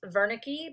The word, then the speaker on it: Wernicke: between broca's area and wernicke's area it is pronounced wernicke because it is german um and these were